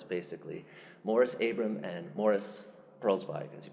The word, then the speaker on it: Perlzweig: Morris Abram and Morris Perlzweig, as he pronounced his name.